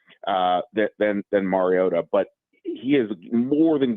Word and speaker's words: Mariota: Mariota? Yeah, there was a very hard emphasis on that T in Mariota.